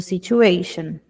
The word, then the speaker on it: situation: The police is helping to control the situation. Toda terminação com t I o N é como se eu dissesse sh situation.